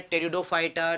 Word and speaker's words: Pteridophyta: ठीक है नेक्स्ट है टेरिडोफाइटा तो ठीक है ये लिखा जाएगा टेरिडोफाइटा और याद रखना है इनके अंदर टेडो साइलेंट रहता है प साइलेंट रहता है टेडो में अब टेरन का मतलब